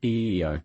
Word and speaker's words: Io: All it took to get me in shape was the gentle encouragement of my Samoan senior drill sergeant, SFCIO, pronounced EEO, not 10.